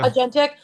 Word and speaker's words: agentic: I don't know how to pronounce that. Aentic. Yeah. Agentic. like the agentic state that